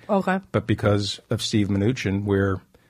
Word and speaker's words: Mnuchin: Oh, Mnuchin. Mnuchin.